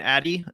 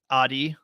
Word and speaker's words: Adi: been mispronouncing your name I guess it's ADI uh 80. I've been saying Addie so sorry Audi right Audi 80 80.